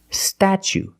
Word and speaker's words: statue: so pronunciation statue statue for the first vow we use the short a like black cat sta then we use the CH sound stat statue for the second syllable we use a long o like Boot and Moon ooh together statue this is the